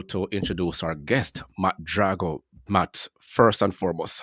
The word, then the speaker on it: Drago: your last name Dro I'm the Italian version but Rocky 4 is probably how most people know my last name that's Drago that's the Russian PR pronunciation but I'm Drago oh it's Drago okay